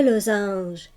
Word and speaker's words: losange: Pour la lettre S dans le losange et la mésange, lorsque tu lis ces mots, la lettre S fait le son Z.